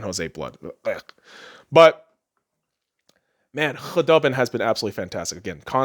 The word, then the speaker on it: Khudobin: Because Khudubin, all the fucking YouTube commenters going apeshit, especially Stars fans, because I've been pronouncing it with the fucking hard K, Khudobin. They're like, it's Khudobin. The K is silent.